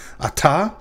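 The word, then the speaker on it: אַתָּה: you're speaking to atta that dagesh in the tav is a doge forta and you'll learn about how to tell the difference in a moment so what that means is that this is actually two syllables and the tav is actually doubled so the first syllable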